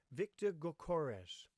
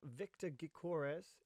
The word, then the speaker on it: Viktor Gyökeres: I think it's called Viktor Gykeres. Viktor Gykeres. I think it's a silent Y. To Brentford again. So we jump over to the sofa score. And Viktor Gykeres is Swedish.